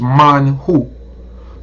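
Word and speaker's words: מן הוא: translated as manna right but the proper pronunciation is mine who mine who meaning what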